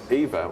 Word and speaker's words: Ewa: That's great, but Ewa, her name's Eva, it's spelled Ewa.